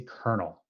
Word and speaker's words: colonel: And 06 is a colonel. That is how it is pronounced. I know it doesn't have an R in it, but it is pronounced colonel.